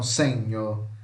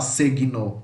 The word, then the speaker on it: segno: Então, G com N em italiano a gente vai falar NH, então senho. A gente não vai falar segno, não, é senho, senho, tá?